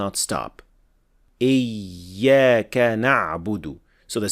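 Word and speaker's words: نعبد: Other learners replace the dhamma with sukun here as well. Iyyaka na'bud wa iyyaka nasta'in. So here we have sukun on the dal, and this is of course a major mistake.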